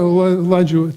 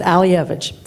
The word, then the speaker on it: Alievich: Did I say it right? No, but close. I'm the only person that really needs a catchy phrase because I have a bad name. It's Alievich.